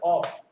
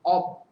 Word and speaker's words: of: এটা হচ্ছে অফ, ও বি, অব, অব, নট অফ।